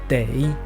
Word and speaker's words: 得: Et dans ce cas-là, sa prononciation change et devient dei.